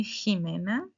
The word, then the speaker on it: Jimena: If you say Jimena Jimena you paid attention to me. Not Jimena.